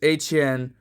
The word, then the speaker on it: Etienne: You just get Travis Etienne Jr. as he wants you to pronounce his name with it having Creole and, French patois style heritage.